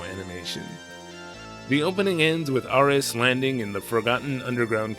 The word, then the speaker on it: Ares: I'm just going to call him Aris to reflect the Japanese pronunciation, I guess.